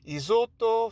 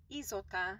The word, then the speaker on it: Isotta: Isotto Fraschini Asso Mille. Isotta.